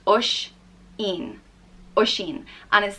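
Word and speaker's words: Oisín: Oran the next name is Oshin and it's pronounced oh Sh een or xin and is spelt with a Fatih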